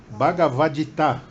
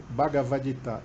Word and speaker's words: Bhagavad Gita: Como é que se pronuncia? Bhagavada... Oh, fala. Bhagavad Gita. Eu quero falar certo. O Bruno é perfeito. Eu tenho um aluno que fez uma tese sobre isso. Ele estudou sânscrito. Bhagavad Gita.